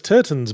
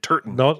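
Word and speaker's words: Turton: And Turtton, I think it's pretty. Not if you pronounce it properly and emphasize the T so it doesn't sound like Turan. Steuart Turtton.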